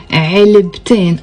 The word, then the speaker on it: علبتين: But whenever I want to add in to it, I cannot say علبة in, then I really have to pronounce the te marbuta. That's why I say علبتين.